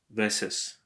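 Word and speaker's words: vez: So, if for example you have veses. Actually, ves is with a Z, pronounced like an S, but it's not a good example.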